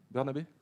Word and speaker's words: Bernabé: Rémi Bernabé, c'est comme ça qu'on le prononce? Bernabé. Ok. Bernabéi, ok, très bien.